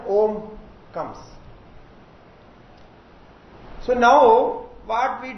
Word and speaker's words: Om: So we have in Om, A, U and Ma. So three syllables are there. A, U, Ma. A, U, Ma. Okay. So when we join this, A and U is joined as O. O. And the Ma is there, then Om comes.